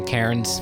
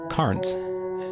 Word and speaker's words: Karns: Austin currents are Benny I always want to say Karen's because that's how it looks to me but when I met